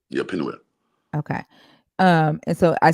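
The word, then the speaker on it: Peniel: make videos saying that this is like the pineal Pine no panu means face l means god literally means face of got okay yeah uh and so it's p it's pronounced Pinel yeah Pinel okay um and so I see and the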